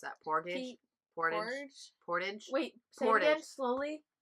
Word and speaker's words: Portage: us that worth SLP Orta gee how do pronounce that porto portas portage wait portage slowly p o are ya tage portage portage